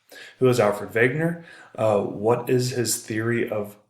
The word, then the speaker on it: Wegener: are who's Alfred Wegener I know it looks like Waggoner but a last name is German so it's pronounced vacant er who was out for vague nur what is his theory